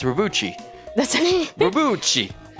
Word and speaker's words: Robotry: It's Robotry.